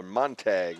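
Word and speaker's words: Montague: be one is a monu a mon a Montag there we go they took their pronunciations away from us when we gave that back to Steve didn't we huh m o n t a gue monag and he was not listed as playing in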